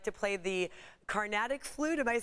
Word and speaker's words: Carnatic: You also like to play the Carnatic flute.